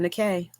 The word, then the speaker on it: Nike: And I'm Nikay. Yep. Spelled like Nike, but Yeah, not like the shoe.